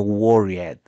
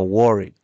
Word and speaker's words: worried: Este worried se pronuncia con un pequeño sonido de D al final. No de ED, no worried, sino worried.